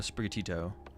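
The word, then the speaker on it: Sprigatito: knockout this turn it would be a a spatio um dude I literally learned how to say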